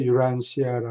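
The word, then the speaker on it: Urantia: 유란시아 음 ti를 t라고 발음하지 않고 에 부드럽게 순화돼서 되게 발음해서 유란시아라 그래요.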